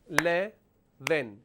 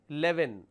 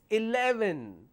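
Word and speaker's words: eleven: The number 11, right? How many syllables do we have here? We have 3. 11, 11, 11, 3, 11, 3 syllables. But we always pronounce this as 11, which means we remove this. I have 11 rupees, I'll give it to you 11 rupees. It's not 11, it's 11, 11.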